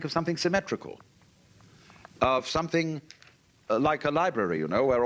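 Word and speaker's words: 理: When we speak of order, we usually tend to think of something symmetrical, of something like a library, you know, where all the shelves are rectangular.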